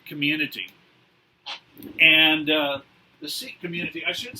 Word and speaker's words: Sikh: And the Sikh community, I should say, in the West, we usually, in English anyways, we usually pronounce this word as Sikh. The Sikhs themselves, they generally pronounce it Sikh.